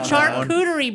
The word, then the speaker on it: charcuterie: in a shark how do you say that chuckertory board chicoonery thank you i don't know why that word is just always the hardest meal charcuterie board so doesn't that sound delicious so they've